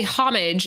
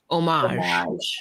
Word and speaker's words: homage: that people that say homage it's more of like an American take on it but since the word is French it should be pronounced omage omage right omage like fromage homage homage homage homage